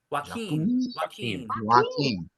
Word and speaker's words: Joaquin: And they typecast him because he is perfectly, how does he pronounce it? Joaquin? Joaquin.